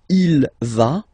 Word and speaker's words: va: Basically, you pronounce it like for the tu, because you don't pronounce the final S, okay? Il va, elle va, okay?